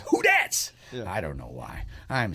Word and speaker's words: Who Dats: in collinsville on sunday it's spelled who and then d-a-t-s that's who dad's and it's hard to say oh little known fact will be at who that's in yeah yeah it's who that's i don't know why